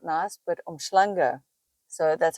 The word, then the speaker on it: uMhlanga: so Durban Beach itself is not nice but omanga so that's how you pronounce it I'll put the spelling on the